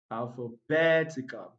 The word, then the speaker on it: alphabetical: 30 number 39 alphabetical when the word ends with a l count 3 syllables backwards from the end so we have one two three so the primary stress falls on alphabetical bantico so the correct